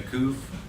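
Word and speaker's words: קוף: So, the kuf, or the kof, however you want to pronounce it, we know that one makes the K the same as the kaf, right?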